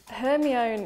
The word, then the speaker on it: Hermione: There's different pronunciations. Hermione is correct, and then I would say Granger, maybe.